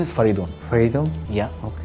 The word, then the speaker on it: Faridoon: My name is Faridoon. Faridoon? Yeah. Okay, how do you spell it?